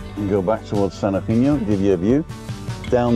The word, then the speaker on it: San Eugenio: It's called San Eugenio, or a lot of people call it San Eugenio, but Eugenio I've heard a lot of locals say. So it's like Eugenio, but the G is sort of a soft H, like in I don't